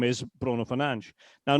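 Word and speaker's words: Fernandes: Now, but I would say to anybody, is it really hard to say Bruno Fernanch? No, it's not hard at all. It's it's easy for everybody to say Bruno Fernanch. Um it might be more intuitive to say Fernandez, but the fact is that his name is Fernand.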